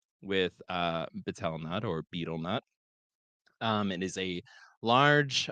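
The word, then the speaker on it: betel nut: And yes, I know it's properly pronounced beetlenut, but we're moving on.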